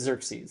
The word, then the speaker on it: Xerxes: But it's Xerxes.